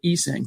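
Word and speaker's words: Essang: By the way, he pronounces it Esang, but nevertheless, thanks for everything, Bassi.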